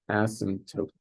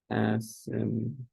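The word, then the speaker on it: asymptote: equal 0 is and asot there's a p in there but you don't pronounce it unless incorrectly as you're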